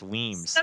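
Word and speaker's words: Weems: thought it name was ween wans he kept saying my name's not ween like a weener you're not a weer it's weams and so he he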